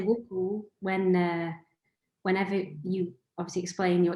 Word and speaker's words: WoolCool: It's two wool and it's cool, but it's with the two O's in English.